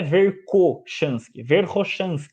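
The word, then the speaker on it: Верхошанский: Da mesma forma que é o autor Verkhoshansky, né, Verkhoshansky. É assim que se pronuncia o nome dele.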